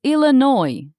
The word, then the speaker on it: Illinois: Next, we visited Illinois. We carefully practiced Illinois, but people corrected us. It's Illinois. The S is silent.